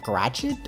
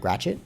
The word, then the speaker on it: Gratiot: So this is, I believe it's pronounced Gratiot or Gratiot or something like that. Gratiot.